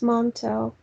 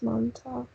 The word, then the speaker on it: Montauk: umbrella or no it's montauk whatever it's called yes that's how pronounced yeah yeah it's not umbrella it's mom talk i feel like they